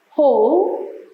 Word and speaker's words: whole: Whole. The W is silent.